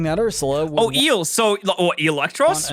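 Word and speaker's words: Eelektross: form of the powerful electross finally to represent um actually it's pronounced electros not Electro no Electro LL ability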